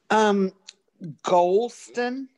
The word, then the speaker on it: Gholston: Golston. Okay. The H is silent.